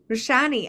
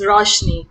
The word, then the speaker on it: Roshni: so much thanks wendy rashani i know i say your name wrong please correct me che baba it's fine it's roshni it's fine thank though